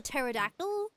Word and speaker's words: pterodactyl: My roommate also doesn't comprehend why we have like um silent letters like for example pterodactyl.